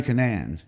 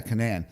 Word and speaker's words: Cunnane: So today I'm sitting here with Cunnane, right?